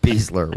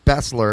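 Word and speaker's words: Besler: I only have one complaint about Beasler and that his name is pronounced Beasler when it's so obviously Bessler.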